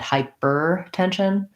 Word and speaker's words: hypertension: 10 so this s says the sh sound the y says i it's like same as the word hi or or hi hyper make sure you do an er for your er but it doesn't you don't want to um put a lot of stress on night hyper tension still the tight back are but light and short on it hyper hypertension um great